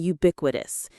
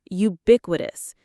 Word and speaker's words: ubiquitous: distractions are silent and ubiquitous. Let's learn that word, ubiquitous. Pronounce it with me. Ubiquitous. Ubiquitous. The stress is on the second syllable, ubiquitous.